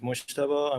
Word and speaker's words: Mojtaba: My name is Mojtaba.